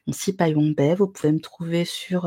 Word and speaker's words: Syphaïwong Bay: Donc j'ai déjà été présentée, je suis Sipai Wongbai, on ne prononce pas le H, très important. Donc Sipai Wongbai, vous pouvez me trouver sur, les internets également avec le pseudo.